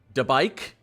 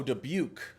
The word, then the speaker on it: Dubuque: How do you guys pronounce that? Debike? No way that's pronounced. Oh, Dubuque.